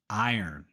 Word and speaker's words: iron: for this one but the letters are all out of order iron no it's iron iron practice these sentences with